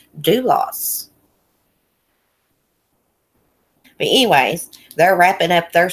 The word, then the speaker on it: Dulos: Jennifer do lost duelists I don't know how you say her name I tried to listen to focuses on one one call again and someone told me I pronounced it wrong again so I listened that 9-1-1 call and it sounds like he's pronouncing it do loss anyways they're wrapping up